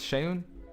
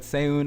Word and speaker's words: Seun: yourself i'm pronouncing it i'm pronouncing it right yeah it's shayun yeah okay not too bad because i've heard i've heard so many i've heard seyun i've heard sean uh uh yeah but